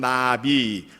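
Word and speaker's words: נביא: 그런데 이제 구약 성경을 기록한 히브리어로는 나비, 우리 한국말로 개념을 하면 포를 날아다니는 나비하고 그 발음이 같습니다.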